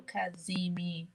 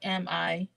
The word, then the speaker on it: cazimi: sorry, C as in Charles, Z as in zebra, I, so Kazimi. CZ. Yeah, it's Cazimi.